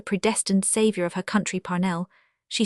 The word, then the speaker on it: Parnell: Parnell, she said with a strong accent on the first syllable, is the man of destiny.